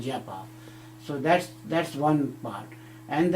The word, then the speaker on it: japa: We call japa, J-A-P-A, japa, or in Hindi we call jap, or we also pronounce as japa.